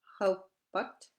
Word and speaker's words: haupat: As in appik, that's big apple. Haupat, as in tomorrow. Appik. Haupat.